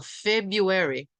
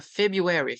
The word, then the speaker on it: February: os britânicos fazem isso mas os americanos que é o inglês que tá acostumado não costumam pronunciar esse primeiro R tá então february tá february february depois o Março